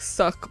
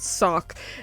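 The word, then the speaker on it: socc: s o c c so like suck but sock and it basically means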